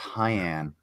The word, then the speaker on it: Keane: It's pronounced Hyan, just like cyan.